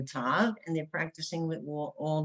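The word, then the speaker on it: ת: It's called the letter Tav, and the one with the dot used to be called Sav. In Sephardic Hebrew, we pronounce them both as a T. Okay, whether it has a dot or no dot, it still has a T sound.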